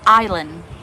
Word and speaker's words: island: ออก ไป แล่น ซัก ไอร์แลนด์ ไอร์แลนด์ ตัว S ไม่ ออก เสียง เจอ พอ ฉัน มี